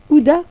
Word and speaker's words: Huda: Ouda. Ouda. Voilà. Ouda, ça s'écrit Ouda. comment? Ah, Comme Gouda? Comme ça s'entend. Ah, Ouda. Non, c'est H-U-D-D-A.